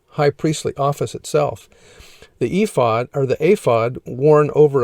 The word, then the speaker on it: ephod: the following items ephod the ephod pronounced aphod in hebrew was an article of